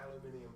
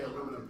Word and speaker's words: aluminum: you use aluminum or aluminium person oh I don't care I usually say aluminum because that's the um Canadian pronunciation um um sometimes uh